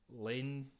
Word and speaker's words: Layne: The actors are called Kiki Lane, I think you say Layne. Lene, I think maybe you'd say it like that.